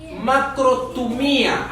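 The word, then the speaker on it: μακροθυμία: En griego es macrotumía, así como se escribe.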